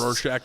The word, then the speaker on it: Rorschach: They give him some of those Rorschach, am I pronouncing that right? Yep. Eye tests. Rorschach tests.